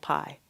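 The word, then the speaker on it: Kpai: I lived in a village called Pai. Pai is spelled K-P-A-I.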